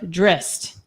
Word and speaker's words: Drizzt: Rhymes with, is it Drizzt or Drizzt? Like mist. Drizzt.